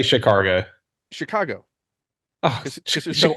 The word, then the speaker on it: Chicago: not chumsky okay and it's also Chicago not chicargo I I flat out refuse to ever say it with without the r it absolutely has an r in it I was watching the